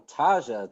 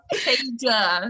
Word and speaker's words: Taja: Our next question is from Taja. Taja, are you there? Hi. Remember, you keep pronouncing her name wrong. It's fine. Taja. Oh, Taja.